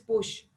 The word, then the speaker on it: Puig: Doctor Mario Alonso, se escribe Puig, la pronunciación es Push, si no estoy mal.